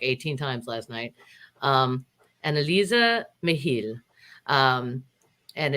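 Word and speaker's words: Anneliese Michel: it's uh supposedly pronoun it's supposed to be pronounced analisa mihil and i'm going to try and say it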